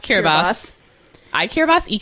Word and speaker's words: Kiribati: yes but the name cure Abbas was adopted at Independence because it's the local pronunciation of Gilberts and they were sort